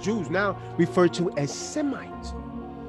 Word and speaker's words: Semite: So when they passed it through the Greek, they lost the Shemite and it became Semite. They lost the SH sound by passing it through the Greek language and becoming Semite.